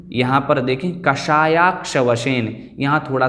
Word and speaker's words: कषायाक्ष वशेन: इस प्रकार से इसका उच्चारण है। लगभग सभी पद एकदम सरल हैं। यहाँ पर देखें कषायाक्ष वशेन, यहाँ थोड़ा सा काठिन्य हमें प्रतीत हो सकता है।